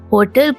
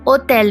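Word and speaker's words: hotel: pronounce नहीं किया जाएगा इन दिस केस होटल को ओटेल पढ़ा जाएगा सो H does not exist okay ठीक हो गया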